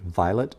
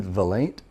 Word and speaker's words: Vilate: And I mispronounced it at first. I said, "Violet M.